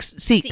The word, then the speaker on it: Sikh: Sheik or what's the that wear the turban type? Oh, sheik. Chic. The Sheik. Sikh. Sorry, I know. Yeah, I Sikh. knew I was pronouncing it wrong.